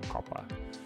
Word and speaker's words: Copa: Adidas Copa, or Copa, that would be the right pronunciation, Copa.